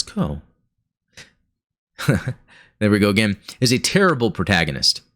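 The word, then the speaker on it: Kou: But, Kuaraki, or Ko, right? It's Ko.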